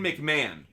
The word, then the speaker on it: McMahon: Now that I know how to pronounce his name correctly. Ryan McMahon.